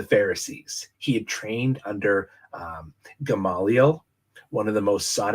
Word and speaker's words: Gamaliel: It kind of looks like Gamaliel. So I had to listen to somebody on Google pronounce it for me, and it said Gamaliel. So we're going with that.